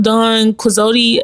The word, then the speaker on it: Don Quixote: I do have Don Quixote.